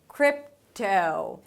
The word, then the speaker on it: crypto: And the close it with a P and a T "krip-tow". The T opens up to the 'oh' as in 'go'.